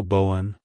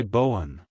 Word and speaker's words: Bowen: on the one at the end like hello Bowen goodbye Bowen if you found the video helpful hit the